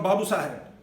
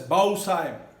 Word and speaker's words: Babu Sahib: They informed me that they are from Babu Sahib, pronounced as Bau Sahib.